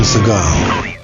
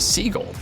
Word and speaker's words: Seagal: it turns out that he and everyone else have been wrong to say it this way the name like Seagal's paternal lineage is Jewish and usually pronounced similarly to seagull reportedly there are a